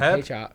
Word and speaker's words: Hryb: But We'll Larry Hrybe, how do you say his last name? Herb. Herb. Is it Herb? Yeah.